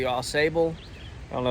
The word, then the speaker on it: Ausable: at the Ausable Chasm don't say it wrong we've been saying it wrong forever we thought it was Ausable but it's the Ausable I don't know it's